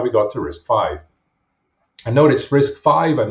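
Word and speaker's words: RISC-V: times in the meantime so it's called risk five pronouncer is five uh because it's the fifth major berkeley risk isa so going back to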